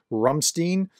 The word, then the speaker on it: Ramstein: story number two the Ramstein or sorry some somebody in the comments was told me in German it would be pronounced rumstein okay thank you for that by the way the rumstein uh Group contact sorry